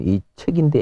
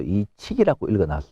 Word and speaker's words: 이칙: 12율은 황종, 대려, 태주, 협종, 곧선, 중려, 유빈, 임종, 이척, 말하면 이척인데 이걸 갖다가 읽을 때 또 이칙이라고 읽습니다. 그러니까 이건 틀린 건 아닙니다.